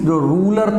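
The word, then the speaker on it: Tsar: तो Russian empire in 1914 में ज़ार Nicholas second, means जो रूलर था उसका नाम था ये रूलर का नाम है, जो रशिया का रूलर था, ज़ार, ये टी साइलेंट है, ज़ार Nicholas second ruled Russia and it's empire.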